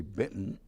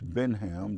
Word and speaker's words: Benham: Most people make the mistake and say Benton, but it's Benham, just as it's spelled.